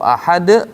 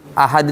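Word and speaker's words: أحد: Ahad itu pakai dal. Iya, kita pakai ta. Dia pakai ta. Qul huwallahu ahad. Nah, salah. Harus qalqalah. De.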